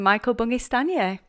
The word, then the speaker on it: Michael Bungay Stanier: So, welcome, Michael Bungay Stanier. So it's really nice to be here. Nice job pronouncing my name.